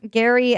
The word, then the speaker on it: Geri: Gary and Freki. Freki, and the other's named Gary. It's meow. it's spelled Geri.